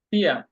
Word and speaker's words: vier: হ্যাঁ, জার্মানরা সাধারণত শব্দের শেষে যদি আর থাকে সেটার উচ্চারণটা ওরা উজ্জ্ব রাখে, পিয়া, উচ্চারণ হলো পিয়া। আর যদি আপনি আর সহ করেন যেমন পিয়ার, এটাও সঠিক।